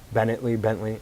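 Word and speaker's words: Paul Bettany: Bentley.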